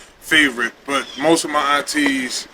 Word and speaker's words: Favorite: LSU some people say fave some people say favorite some people say how do you say your last name favorite so you had it right that rhy look at